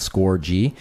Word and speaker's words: Scorgie: hence the hockey and that's also the pronunciation of my name because people say score and stuff like that score G uh and then yeah